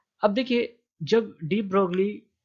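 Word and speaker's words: de Broglie: अब देखिए, जब डी ब्रोगली जो है, डी ब्रोगली के इस लॉ को डी ब्रॉय भी प्रोनाउंस किया जाता है।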